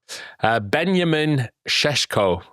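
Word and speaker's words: Benjamin Šeško: Ben-ya-min Sheshko signed, hasn't he? How are you pronouncing that? Ben-ya-min Sheshko. Well done.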